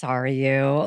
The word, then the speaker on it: Sarayu: And I'm just like, It's Sarayu.